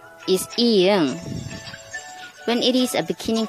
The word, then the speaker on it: ㅇ: When it is an ending consonant, the sound is ng, like song, bring.